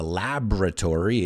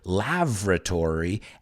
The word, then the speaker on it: laboratory: in a lab but if you don't pronounce this word right you could say the word labratory and lav which is so be careful we've got laboratory or lab and that's